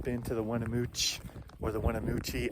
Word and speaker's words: Weminuche: not been to the Winnemucca or the winamucci I don't know how to pronounce it I think the locals say wanna mooch so I'll try and stick to that if you haven't been